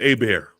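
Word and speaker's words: Hebert: If there's an R after the E, it's Herbert. But if there's no R, then it's A-Bear.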